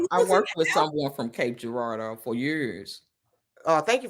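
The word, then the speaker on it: Cape Girardeau: uhhuh yep wor I worked with someone from Cape Gerardo for years oh thank you for pronouncing that because I I was lowkey struggling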